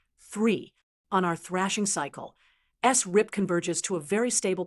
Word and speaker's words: SRRIP: Now, static re-reference interval prediction, often pronounced SRIP.